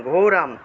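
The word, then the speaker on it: ঘোরং: ঘোরাম অনুস্বার থাকলে ম উচ্চারণ, ঘোরাম।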